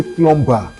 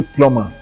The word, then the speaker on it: plumber: Don't say plumber say plumber because that b should not be pronounced.